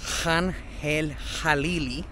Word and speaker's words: Khan El-Khalili: And right now, we're going to head to Khan El-Khalili Market, which is actually pronounced Khan El-Khalili.